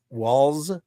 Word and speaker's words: Walz: Walz? Yeah. No T? The T is bugging you?